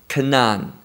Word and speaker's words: Cainan: he begat Cainan Canaan don't confuse that word with the same word that sounds similar but it's spelled differently this is the word Kanaan not the word like the land of Canaan very very different so once more verse